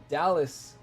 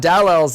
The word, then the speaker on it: Dallas: of now it will be Dallas not dowels anymore now I can